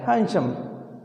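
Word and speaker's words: handsome: हैंडसम बोलता है, डी इसका कैसे रहता है? Silent, हैंडसम। तो वांटेड ए हैंडसम मैच या suitable match for ए वंशल girl.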